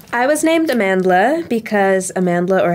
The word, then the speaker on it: Amandla: name amandla wow i was named amandla because amandla or how it's actually pronounced amantla amantla means power in zulu and hosa and during